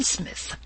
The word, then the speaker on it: Psmith: are you i am smith said the old etonian reverently as there is a preliminary p before the name this however is silent i like the tomb compare such words as tarmagen psalm and this is these gentlemen